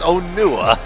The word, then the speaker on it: Onua: It's Onua. Onua. Dude, I always got it confused. I didn't know how to pronounce it.